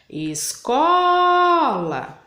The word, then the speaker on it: escola: escola e vou chamar escola então qual que demor mais que ficou Comprido né então foi o Có tá então a a sílaba forte da palavrinha escola é o có tem outra dica toda